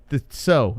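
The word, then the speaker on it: Tso: treat yourself to the so. Is it so or cho? How do you say it? I think it's cho. People say it differently. Even Chinese people don't know. I say cho.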